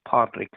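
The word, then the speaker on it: Pádraig: name is Patrick and the Irish way to pronounce Patrick and Gall is padrick so that's what I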